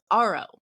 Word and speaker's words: Aro: across this organization called Aro a r o rhymes with tomorrow so I found this